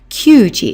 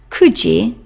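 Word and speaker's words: 九時: Again, you must not use the alternative pronunciation of 9, which is Q. Kyuji is not acceptable. Kuji. Juji is 10 o'clock.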